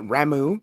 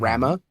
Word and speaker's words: Ramuh: But also, let's see, there was I always pronounced it Ramu, not Rama, because Rama sounds stupid. Ramuh to me spells Ramu. Ramu.